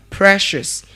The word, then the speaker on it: Precious: And that name is pronounced as what? Precious.